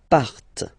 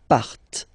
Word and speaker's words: partent: Okay, and the last persons, il, elle, partent. Remember, classic ending, ENT, but then you don't pronounce them, partent, partent.